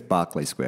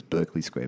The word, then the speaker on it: Berkeley Square: in london um opposite i always say this wrong too i hope i'm not going to get the pronunciation wrong people all the english listeners are going to have got me barkley square i think it's barclay square you still think it was berkeley square but it's barclay square in mayfair and